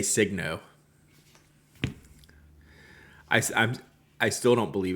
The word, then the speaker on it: Signo: Like when I'm like all I deal with is brands and like people ask me, how do you say Signo? I still don't believe it's Signo, even though that's what they say it is.